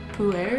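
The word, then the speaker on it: Pu-erh: A huge variety of tea, but I never actually tried the pu'er, is that how you say it?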